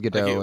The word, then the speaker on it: Gadot: I'm going to go with Gadot until... No, the T is hard. It's a hard T.